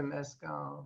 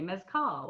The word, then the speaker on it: mezcal: anybody that needs clarification the emphasis on is on the first syllable like it is standard in any Spanish word but I've been messing him up because for some reason I like French fi the word and i say myst call I try to like